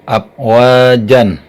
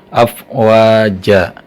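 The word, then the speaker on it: أفواجا: dari mati wards Hai membacanya up wajd jangan up wajan tapi afwaja itu hukum bacaannya Mad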